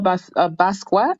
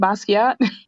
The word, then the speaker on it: Basquiat: year but um no he played um Jean-Michel basket how do you say his name Basquiat the artist in the 80s that collaborated with